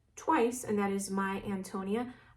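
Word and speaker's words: Ántonia: and that is My Antonia. I know some people pronounce it Antonia, but I prefer Antonia.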